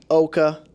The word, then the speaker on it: OCCAA: Community Action Agency yes Oka like mocha yes rhymes with mocha rhymes with mocha don't